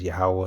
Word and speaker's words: Yahweh: that the Lord's true name and his true pronunciation is Yahweh and the Son's name is Yahweh Shai.